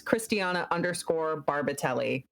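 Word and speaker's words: Christiana Barbatelli: And that's Christiana_Barbatelli. It's spelled exactly as it sounds, just don't add an H.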